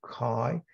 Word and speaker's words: chi: for chi-square is chi-squared Greek letter Chi pronounced Chi a chi Square variable